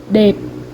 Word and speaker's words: đẹp: đẹp đẹp đẹp đẹp đẹp đẹp。